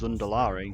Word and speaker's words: Zandalari: It's the Zundalari. Like, how can we deny when there's like, it's literally pronounced in game as Zundalari?